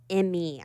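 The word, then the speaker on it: Emei: Emeline number four, and Emmy, I think is how you say her name, e m e i.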